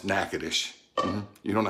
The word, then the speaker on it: Natchitoches: to spell it right it's spelled just like it sounds knacketish you don't know how